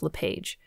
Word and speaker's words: LePage: the exception of Joseph LePage. He is most well known by the anglicized pronunciation of his name, and so that one will carry through.